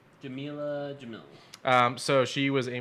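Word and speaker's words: Jameela Jamil: a cheerleader yep okay uh uh jamella uh jamella jamil that's how you say her name jamila jamil um so she was a model turned actress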